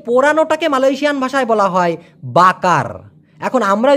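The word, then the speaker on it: bakar: Malaysian ভাষায় বলা হয় বাকার এখন আমরা যে বাংলাদেশের যদি বলি আমরা কি বলবো বাকার করে একটা ঠেলা দেই এই র টাকে ওরা ওইভাবে উচ্চারণ না করে বলে বাঁকা বাঁকা বাঁকা বাঁকা মানে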